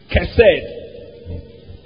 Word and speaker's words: chesed: Chesed. Now, it's pronounced chesed, but the spelling is C-H-E-S-E-D.